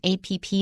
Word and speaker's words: app: good listener and also notice the way Wesley pronounced food delivery app so naturally this has got three nouns together first of all note that we don't say a PP in English at all we just don't say